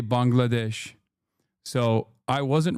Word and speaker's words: Bangladesh: Okay, now Turks are saying Turks used to say Bengalesh and now they say Bangladesh.